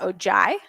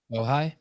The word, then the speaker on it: Ojai: marathon which starts and how do you say that ojai ojai ojai ohi oh hi can't i can't see it but it's probably is it california oh hi california yeah yeah and ends